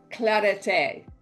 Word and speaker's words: clarete: They call it clarete. It's spelled claret, but it doesn't mean a claret like a red wine, like a Bordeaux wine.